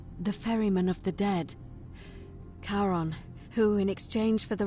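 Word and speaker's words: Charon: It's just as you described it, only your pronunciation is a little off. The name you heard wasn't Karen. It was C H A R O N. As in Karon, the fairyman of the dead. Karon, who in exchange for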